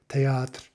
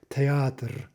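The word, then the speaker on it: театр: Because they don't always say théâtre, théâtre, where it's really almost truly two syllables. It's usually something more like théâtre, théâtre. Okay, really, you've got three syllables there.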